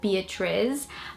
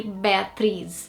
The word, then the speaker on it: Beatriz: like Beatrice here, but because there is the Z in the end, if you would try to pronounce it in the English pronunciation, it would be Beatrice, but it's actually Beatriz.